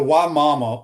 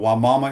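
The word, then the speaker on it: Wimauma: That's so so the way the Y mama was the way you pronounce this city that Josh is moving to. Rich says here on YouTube brought to you by Quality Plumbing. Why mama is by Sun City,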